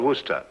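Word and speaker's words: Worcester: something else too dark but it's spelled wo AI SI es ter we're sister oh yes I see yes Lord Wooster mm-hmm his mard be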